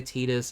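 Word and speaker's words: Tidus: have Cloud Yola Titus I know some people say tetus I know that's the correct way to say it tetus sounds dumb I'm team Titus let me know in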